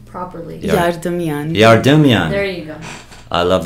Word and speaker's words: Yardemian: How do you pronounce Yardemian. your name properly? Yardemian.